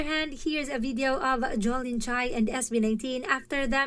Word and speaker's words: Jolin: That's Holy so I was pronouncing her name wrong. Holin ha? Get that right Jolin.